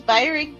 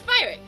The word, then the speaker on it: Byrick: If you say if you say his name's Byrick, that's how you say his name. All right. It's Byrick.